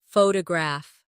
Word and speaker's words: photograph: Now photograph. The stress is on the first syllable.